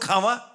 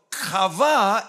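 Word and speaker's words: qawah: h dalam bahasa Ibrani kava harus cakap dengan macam cakap bahasa Ibrani must speak like you pronounce it like you speaking hebrewah don't speed at Somebody Yang jangan Luda orang k semua sebut khawa Salahlah cara k orang cakap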